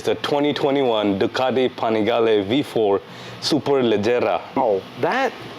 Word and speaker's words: SuperLeggera: This today, ladies and gentlemen, is the 2021 Ducati Panigale V4 SuperLeggera. Oh, that pronunciation, Abro.